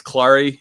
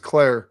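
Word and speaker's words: Klare: tight is it Max Clary the tight end that they have too. Did I say that wrong? Did I say his last name wrong? I think it's just Claire.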